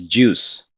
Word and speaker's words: JEOS: And by that, by the way, this word JEOS, people pronounce this as juice, like orange juice.